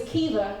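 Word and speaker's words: Caoimhe: Her name was Kiva, which is spelled C-A-O-I-M-H-E.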